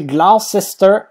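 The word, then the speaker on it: Gloucester: domicile je vais mettre l'équipe bis comme ça prononcer glester ouais alors glest c'est une ville du sud-ouest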